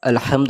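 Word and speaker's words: الْحَمْدُ: এই আলিফে জবর পেশু থাকে না কিন্তু আসলে আলহামদ আমরা এখান থেকে পড়া শুরু করি তো হাটা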